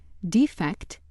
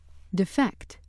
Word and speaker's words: defect: Like word four, word six has two pronunciations, defect and defect. Which pronunciation you use depends on how the word functions in a sentence. Accordingly, if word six is being used as a noun, meaning an imperfection or flaw, it is pronounced defect. Defect.